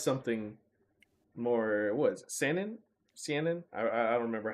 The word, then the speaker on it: seinen: Seinen? Seinen? I don't remember how to pronounce it. Seinen. Seinen. Yeah. Seinen.